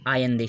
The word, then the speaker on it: Allende: जो प्रेसिडेंट बने थे, यहाँ के प्रेसिडेंट थे 1970 में बने, उनका नाम था आयंदे, साल्वादोर आयंदे। इनको आयंदे बोलते हैं, ALLENDE इनकी स्पेलिंग है।